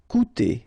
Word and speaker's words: coûter: Okay, keep in mind that even if you've got this accent circonflexe on the top of U, it doesn't change the pronunciation. So it doesn't change this combination of two vowels here. So it will be OU. Okay, coûter.